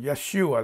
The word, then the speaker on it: Yeshua: who is our salvation Yeshua that's how you pronounce it but the second syllable emphasized the second syllable Maia schewe David does